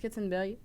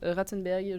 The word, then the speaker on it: Katzenberg: Alors là encore une fois, moi je prononce Katzenberg, le directeur de DreamWorks, mais d'autres prononcent Ratzenberg, je ne sais pas.